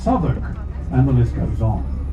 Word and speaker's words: Southwark: Berkeley Square is Berkeley Square, Leicester Square is Leicester Square, St Olav Street is Tooley Street, the district of South Walk is pronounced Southwark, and the list goes on.